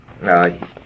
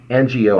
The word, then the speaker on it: Ngo: last name is Vietnamese its NGO I thinks pronounce no Andy no now this guy